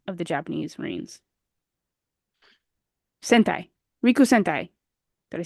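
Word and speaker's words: 陸戦隊: Rikusentai. Did I say it right? Yeah. Okay, perfect. The Rikusentai.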